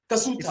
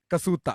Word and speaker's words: कसूटा: कसूटा. हाँ तो Like भाई जैसे जूता होता है ना, जूता.